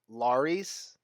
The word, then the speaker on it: Larys: Mohor, Kurleket, and Larys. I think it's just like he's replacing vowels with Wise. I think it's Larry. I think it's pronounced kind of like Larry.